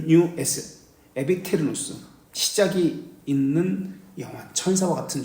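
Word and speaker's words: aeternus: 누스 n 에테르누스 하는데 교회에서는 이것을 어 교회 용어로 쓸 때는 하나님에게 쓸 때는 에테르누스 그렇게 합니다 아에 테르누스 일반적으로 쓸 때는 아에 테르누스 그리고 시작이 있는 영혼도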